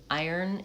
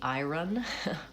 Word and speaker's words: iron: Iron is something that you would think based on the spelling would be iron, but it's actually iron.